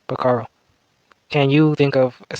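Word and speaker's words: pájaro: purpose just as well the Spanish word for bird is pronounced pararo can you think of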